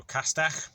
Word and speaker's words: castell: So double L is that top of your tongue. So castell, that's the Welsh word of today, and a bit about the Welsh alphabet.